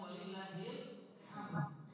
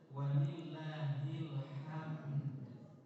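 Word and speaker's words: ولله الحمد: Sering bacanya walillahil hamd. Yang benar walillahil hamd. Ada dalnya di atas.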